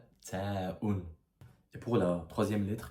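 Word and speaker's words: ت: On dirait un emoji qui sourit mais cette lettre c'est l'équivalent du t en français et ça se prononce taun.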